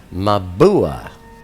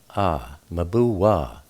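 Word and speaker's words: מבוע: The word for fountain here is mabua. Mem be war. Mem is m beet in this case is the b. W is uh pronounced o or u sometimes w but you have me mu mabua war is pronounced w in this case uh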